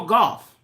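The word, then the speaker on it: Gauff: Coco golf I like it ain't golf it's G what is it g u o f f golf Coco golf I just know you pronounce it golf um we got to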